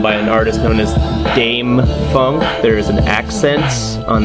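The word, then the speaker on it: Dâm-Funk: about an album by an artist known as Dame Funk there is an accents on the a so it's pronounced Dame the name of his album is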